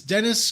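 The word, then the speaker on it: Deniz: So it's Dennis Camp, spelled with a Z, Dennis, and Javier Rodriguez as the artist.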